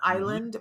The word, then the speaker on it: Iland: you say island because it's pronounced just like the piece of land out in the ocean island but it does not have the s there is no s in islands so it's thomas t-h-o-m-a-s